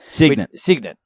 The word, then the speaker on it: Cygnet: the the so i could never get the pronunciation right but the sign at cricket club uh footy club cygnet yep cygnus it up again